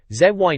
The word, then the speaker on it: Zy: Mario 64 the fastest zy pronounced Z apparently is timing people with